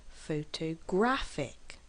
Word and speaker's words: photographic: the second syllable photographer photographic has four syllables as well but we stress on the third syllable photographic now I am actually emphasizing